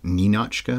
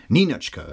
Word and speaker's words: Ninotchka: Apparently Ninotchka means, and you should be pronouncing it, I guess, Ninotchka more, or Ninotchka, or something like that. You emphasize the Nin rather than the Och.